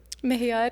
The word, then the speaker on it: Mohiar: Mohiar, yes.